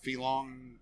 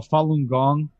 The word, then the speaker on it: Falun Gong: cult so i i don't know how to pronounce it filong oh falun gong falun gong yeah yeah what was it let's